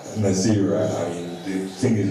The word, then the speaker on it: Naasira: So we have Mama Nazari. Mama Nazari is Naasira.